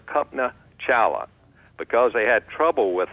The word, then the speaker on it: Kalpana Chawla: Her name is Kalpana Chawla, spelled a little different, spelled Kalpana Chawla, pronounced Kalpana Chawla.